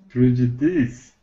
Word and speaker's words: prejudiced: Ishmael's right, and the pronunciation is prejudiced. Prejudiced. Right. It's pronounced me- with a T, but it's spelled with ED.